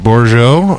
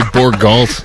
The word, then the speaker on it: Bourgeot: No, it's just usually Borgalt. Yeah, Bourgeot. No one has any class. At my anymore. old job, they used to put the L before the U.